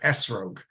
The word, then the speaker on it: esrog: pronunciation which had the the letter Tav without a DOT uh pronounced as as uh like an s in English uh and so uh thus the word esrogue um the sparadim as